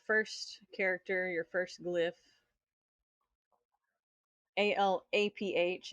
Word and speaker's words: Aleph: ALAPH is the way it's pronounced.